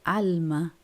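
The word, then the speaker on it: עלמה: ¿Cómo se dice? Se dice alma.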